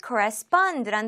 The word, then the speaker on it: correspond: 네, 우리 세 번째로 함께할 단어는 correspond란 단어입니다. 우리 일단 발음 연습부터 같이 해볼까요? correspond, correspond, correspond. 대응하다, 서신 왕래를 하다, 혹은 일치하다요. correspond, correspond. 이렇게 마지막 음절에 강세를 둬서 읽어주시면 되겠죠?